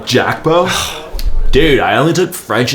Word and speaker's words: Gakpo: It's not Gakpo, Thad, he's Dutch. Pronounce it properly. Jackbo?